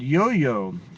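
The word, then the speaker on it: IOIO: well and also um there's another project called yo-yo uh it's pronounced yoyo uh which is uh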